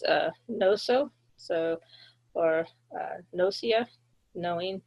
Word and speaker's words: gnosia: So, or uh, nosia, knowing. So, the G is silent there.